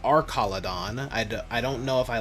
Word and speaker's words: Archaludon: Or apparently, according to the anime, it's pronounced Archaludon. I don't know if I like that pronunciation, because it's like arch, as in like, you know, like a bridge, not arc as in Arceus, but whatever.